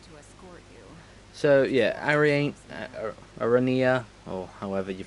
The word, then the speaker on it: Aranea: So, yeah, Arania, or however you pronounce it. Commodore Aranea Highwind.